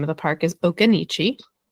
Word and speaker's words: Occoneechee: I also say it wrong sometimes, but I'm like 98% certain at this point that the name of the park is Okanichi.